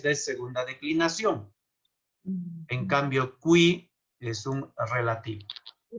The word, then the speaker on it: qui: Agnus Dei qui tollis, no es qui, no es qui, la Q con la U se pronuncia todo. Agnus Dei qui tollis, tollis, este siempre